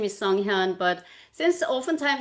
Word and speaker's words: Sunghyun: My first name is Songhan. But since often times it's kind of hard for people to pronounce the whole name, the first name, I often go by song.